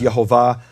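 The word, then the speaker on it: יְהֹוָה: So, what we've established here is that the rabbis did know how to pronounce the name. Now, I have here a map of 16 rabbis from all over the Jewish world, and you can see they go from Spain to Egypt to even Israel, Tzfat and Jerusalem, Eastern Europe, and this is, of course, the modern locations. Some of these go back to the year 1300, rabbis who said the name is Yehovah.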